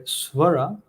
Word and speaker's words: Swara: Means Surya means the sun, Dev means God, and Swara, meaning to sound or resound, where Swara, with the extended a pronunciation, it means as a musical note.